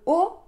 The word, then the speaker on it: aux: tarte aux framboises attention dans le haut on a un mot au pluriel mais on prononce pas le X et rappelez-vous a et U en français ça fait le son o et ensuite on a